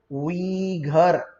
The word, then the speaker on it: Uyghur: उइघर, उसको उइघर उइघर ऐसा ना कहे, इट इज उइघर, उइघर Muslims, right.